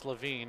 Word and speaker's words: LaVine: you I've called you LaVine before but it's LaVine and it's spelled correctly and sometimes you got to get it through your head that that's the way it needs to be uh spelled and pronounced so I will do